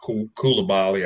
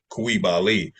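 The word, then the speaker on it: Coulibaly: we have uh Bala kabali I think his name is actually pronounced B kibali he's gonna be solid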